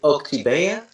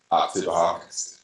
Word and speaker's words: Oktibbeha: Is it Oktibbeha? Oktibbeha. Yeah, I'm not going to pronounce it actually.